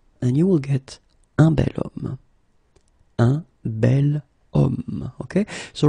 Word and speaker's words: bel homme: if you look carefully, you've got H here, okay? And it's not a vowel at all. But then in French, we don't pronounce it.